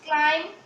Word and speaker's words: climb: It's comb, it's climb, it's thumb and it's lamb. Means part of B is cancelled from these words. The pronunciation of B is not anymore in these words.